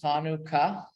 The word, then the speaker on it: Chanukah: Chanukah has two syllables, Chanukah.